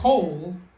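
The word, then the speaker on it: כָּל: coal is pronounced with an O sound Okay. because it is both closed. The lamed closes the syllable. All right? So that is a closed syllable and it is unaccented. All right? So, since it is both of those things, it is a kametz ketuv. It is the O sound.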